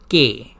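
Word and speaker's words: que: like to say that the Spanish word for what is K qu e for Spanish would be pronounced as K that was the official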